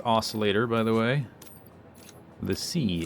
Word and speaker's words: oscillator: all right okay then o I know it's pronounced oscillator by the way the sea is silent for